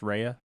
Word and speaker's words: Ria: RIA RIA Mar HEA it's pronounced Raya Raya and I explained